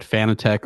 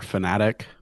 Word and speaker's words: Fanatec: a company called uh i've heard it pronounced either way but fanatec or fanatic um if uh you